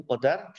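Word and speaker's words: قضاء: Apa itu qada dan apa itu qadar? Coba anak-anak lihat di tayangan. Qada ini tulisannya kada, tapi bacanya qada.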